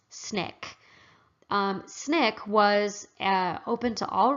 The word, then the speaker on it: SNCC: Student Nonviolent Coordinating Committee shortened to SNCC however it is pronounced snick snick was open to